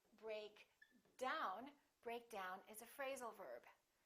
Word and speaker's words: break down: we say pick up break down we say break down emphasizing the second element sometimes the phrasal verb